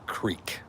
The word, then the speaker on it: creek: So it's a hard e. It's definitely creek. kind of like the floorboard is squeaking.